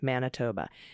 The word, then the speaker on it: Manitoba: I want to share some good news from Manitoba. Manitoba. Okay, I got it. Yes, we are pronouncing the I as an A, Manitoba, because it makes sense somehow.